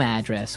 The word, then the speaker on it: address: different from your home address where you live yeah and there the stress is on the first syllable address right perfect very good